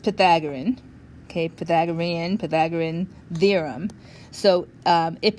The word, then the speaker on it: Pythagorean: Okay, so this is pronounced Pythagorean.